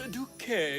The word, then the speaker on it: Duc: Douquet, ça se prononce Duke Jonathan.